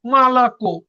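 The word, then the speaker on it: молоко: তো দেখেন এবার আছে মালাকো, স্ট্রেস পড়ছে কিসের উপর? কোয়ে ওর উপরে। তো দেখেন আগের ও গুলো কি এ হয়ে গেছে বা উচ্চারণ এর মতন হয়ে গেছে। দেখেন মালাকু।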